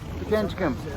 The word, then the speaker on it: Pikangikum: Is it Pikangikum. Pikangikum. Off to Pikangikum.